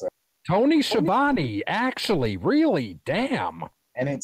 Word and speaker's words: Schiavone: How the fuck you pronounce it? Tony Schiavone, actually, really, damn.